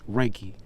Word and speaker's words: Rakie: more importantly Rocky himself for mispronouncing his name is raiki no excuses no ifin